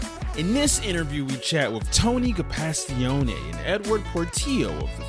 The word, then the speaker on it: Gapastione: All of the Americans say Gapastone. So, but I like the Italian with the hands up in the air. That's great. Gapastione.